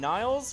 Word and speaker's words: Niles: notice that until now and Niles rhymes with Giles there's nobody in the